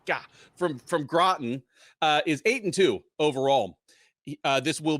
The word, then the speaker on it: Groton: Groton. There were only two possible ways it could have been pronounced, and I fucking got it wrong. God, from Groton, is 8-2 overall.